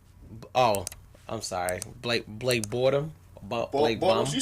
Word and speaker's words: Blake Bortles: Oh, I'm sorry, Blake Bortles.